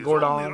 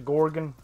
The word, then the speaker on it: Gorgon: The Gordon. Right. The Gorgon. Oh, it says Gorgon. I've been pronouncing it wrong forever.